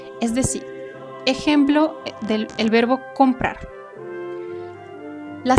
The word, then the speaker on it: comprar: Es decir, ejemplo del verbo comprar. La sílaba tónica del verbo comprar, ¿cuál es? Comprar se divide en dos sílabas. Comprar. La sílaba tónica es la última, por lo tanto, en